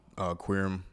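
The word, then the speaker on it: Qerim: O'Neal, Charles Barkley, Molly Querim, I believe is how you pronounce her last name.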